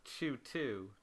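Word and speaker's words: Chu²: is the opposite, where it's spelt as Chu2, but it's pronounced as Chu.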